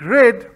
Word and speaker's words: read: read a book right we speak red but we spell it the same as read so r-e-a-d yesterday i read